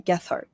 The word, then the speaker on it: Gethard: I pronounced Gethard wrong, didn't I? Gethard. I think you nailed it.